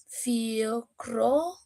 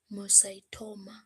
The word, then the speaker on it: pheochromocytoma: Some pronunciation of these words, pheochromocytoma. pheochromocytoma.